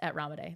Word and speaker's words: Ramadei: as well right and my personal Instagram is ramade it's my last name r a m a